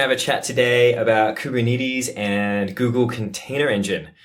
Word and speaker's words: Kubernetes: I met a Greek gentleman who said the actual Greek word is pronounced something like Koov-er-net-es, but, you know, it's something that was birthed on the west coast of the United States.